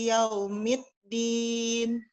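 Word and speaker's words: يوم الدين: ya Bu ya jadi harusnya Dal Bu Ya dalnya jelas Maliki yaumid ya mid dia ini Afen karena online jadinya susah ya mendengar mid yang yang tepat dari Ana ya karena mungkin engak masuk mid mid ya pakai D bu bukan pakai T ya bukan Maliki yaumiddin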